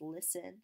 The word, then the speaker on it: listen: there right used there's some words with silent letters such as listen list n or depth depth and